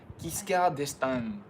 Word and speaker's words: Giscard d'Estaing: Thank you for that pronunciation guide, Jackie. Yeah, that was Giscard d'Estaing.